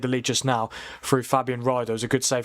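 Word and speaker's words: Fabian Rieder: Is that how you say it, Fabian Ryder?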